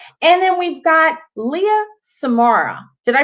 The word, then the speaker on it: Samura: And then we've got Leah Samura. Did I pronounce that correctly, Leah? Yes, you did. It's Samura.